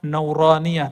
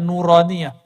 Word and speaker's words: nuraniah: Makanya ribat itu kita kasih nama nauraniah. Itu bacanya nuraniah.